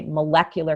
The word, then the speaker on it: molecular: But then all of a sudden for no reason whatsoever, we change the stress when we say molecular chemistry. That's it's not true. molecule chemistry, it's molecular chemistry.